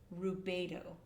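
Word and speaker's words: Rubedo: Now this third phase, this third and final phase is what is called rubo. And it's spelled r u b d o. Rubo.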